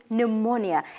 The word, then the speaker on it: pneumonia: note that one zero did not sound out the letter P in pneumonia it is a silent letter now moving on while